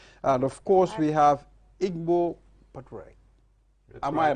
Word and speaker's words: Ingo: practitioner social secretary and of course we have Igbo Padre am I right is that the right pronunciation yes so it's good to have you